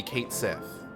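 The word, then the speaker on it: Cait Sith: I guess if it's FF7R, it would be Kate Sith, because that's how they pronounce it in that game.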